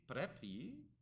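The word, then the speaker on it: πρέπει: got this right that in contemporary Greek you would say prepi right which is just a contemporary uh uh uh way of pronouncing the word in a context where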